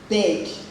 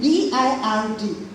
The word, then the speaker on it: bird: Then B-I-R-D, people still say bed. No, the pronunciation is wrong. It's bed that you lie on, and bird that flies. Bird, the sounds are different.